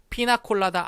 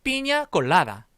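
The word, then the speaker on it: piña colada: 있는 바로 그 술입니다 피나콜라다 아니고 뭘까요 그렇습니다 다같이 비니 아 골라라 다시 한 번 삔 이아 골라라 이렇게 읽어 줘야 된다 그래서 아픔 예술적 하시면 요 피나콜라다 말고 빈약 골라 다라고 꼭 발음을 해 주셔야 되요 무이 비엔 아주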